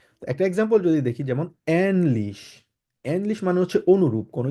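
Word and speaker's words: ähnlich: কিছুকে বলা হচ্ছে এনলিশ আমরা নরমালি এটাকে যদি উমলাউড না থাকতো তাহলে আমরা কিভাবে উচ্চারণ করতাম আমরা বলতাম হচ্ছে আনলিশ কারণ একে যার মানে কিভাবে কিভাবে উচ্চারণ করা হয় আ বলা হয় ওই জন্য আমরা বলতাম হচ্ছে আনলিশ বাট আনলিশ হবে না যেহেতু এখানে উমলা উঠাচ্ছে এজন্য সেজন্য আমরা বলবো কিভাবে এনলিশ একদম ইংলিশে যেরকম এ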